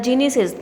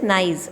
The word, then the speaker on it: gneiss: So see, the genesis, it is not the correct pronunciation of this. It is the correct pronunciation is this gneiss.